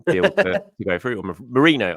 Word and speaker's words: Merino: Or Merino. I keep calling him Moreno. It's Merino, and I need to keep slapping myself in terms of the pronunciation.